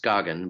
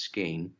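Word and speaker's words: Skagen: northernmost tip of denmark it would look if it's pronounced skogen but it's pronounced skein right and um the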